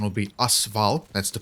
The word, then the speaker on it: AS Val: assault rifle or actually how you would call this in Russian will be asval that's the correct pronounciation